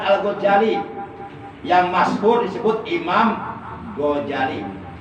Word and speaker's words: Ghazali: Beliau adalah Al-Alim, Al-Allamah, Al-Baqi, Al-Amil Al-Kamil Maulana As-Syekh Abu Hamid Muhammad bin Muhammad Al-Ghazali, yang masyhur disebut Imam Ghazali. Imam Ghazali, bukan Imam Gonzales.